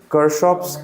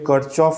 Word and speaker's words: Kirchhoff: এবারে প্রোনাউন্সিয়েশন কেউ কারশফ করে, কেউ কারচফ করে, কেউ কিরচফ, কেউ কিরশফ। তো যার যেরকম, আমি কারশফ বলি, হয়তো স্কুলের স্যার দেখবে কিরচফ বলতে পারে, তো সেম জিনিস।